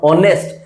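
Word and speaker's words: honest: आगे मैं बोलता हूं ऑनेस्ट। एच साइलेंट है।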